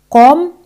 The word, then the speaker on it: comme: Así en francés es comme ça. Comme. La letra E al final de la palabra no se pronuncia.